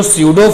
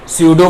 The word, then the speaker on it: pseudo: Oblique have स्यूडो force, स्यूडो force की spelling start होती है पी से, स्यूडो फोर्स ब्रेक ऑब्लिक करके स्यूडो फोर्सेस, स्यूडो फोर्सेस।